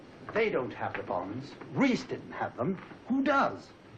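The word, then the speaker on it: Reis: what does it matter re e i s Reese in German that is pronounced right what the devil do you think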